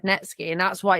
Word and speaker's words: Netsky: For me, it's net sky. That's how it's spelled. That's how I've always said net ski. That's how he pronounces it.